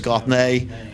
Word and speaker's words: Gothney: Then we've got Levon Gothney, who it's Gothney. Yeah, and I never knew that till like his 3rd year. He never told us that's the way he liked to pronounce it till his 3rd year there.